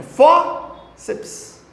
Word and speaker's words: fórceps: Tem isso não, gente. É bíceps. É fórceps.